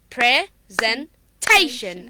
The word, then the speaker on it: presentation: to this one also that before shun the syllable before sun you will stress on that syllable there are four syllables so shen is the last syllable and the third syllable is te okay so we are going to give the stress on present presentation okay presentation something much natural right now the last